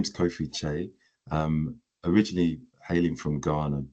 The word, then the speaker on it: Kyei: my name is Kofi Chay um originally Halen from Ghana born in the UK and the CH is ky eii but phonetically it's ch c h a y so that's hence the